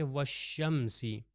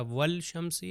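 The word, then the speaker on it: والشمس: से जाके मिल जाएगा तो किस तरह पढ़ेंगे हम कहेंगे व शमसी अगर मैं लाम को प्रोनाउंस करो तो हो जाएगा वल शमसी यह गलत हो जाएगा तो रूफे शमसी हम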